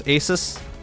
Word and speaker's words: Asus: How do you pronounce Asus? It's like Jesus, but start at the beginning of the alphabet.